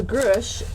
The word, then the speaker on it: Grusch: and his last name because I'm horrible with pronunciation it's g-r-u-s-c-hush so David Charles grush is a formal former government contractor recently he